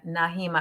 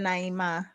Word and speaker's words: Naima: But yeah, yeah, Nahima. I don't know if I'm pronouncing your name right. Nahima, We call it Naima.